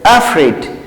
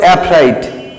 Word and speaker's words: afraid: উচ্চারণটা হবে অ্যাফ্রিড, কিন্তু অনেকে বলে অ্যাফ্রাইড। এটা কিন্তু বলবা না, তোমরা বলবা অ্যাফ্রিড।